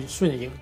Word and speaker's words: 瞬影: Since he's a Chinese character, the proper pronunciation of his name should be Shunying. Shun means instant and Ying means shadows, so Shunying means instant shadow or instantaneous.